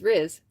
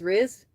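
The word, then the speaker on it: rizz: where that came from because it's RZ because it's like charisma. It's short for charisma, right? So it's RZ R.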